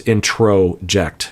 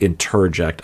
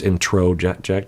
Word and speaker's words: introject: the uh comment section the term is introject you know like introduction it's like in not interject I might say it like interject but it's introject just to let you